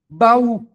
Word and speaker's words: baú: Se não houvesse assento em baú, nós leríamos eh semelhante a palavras como eh ma, como pau, né?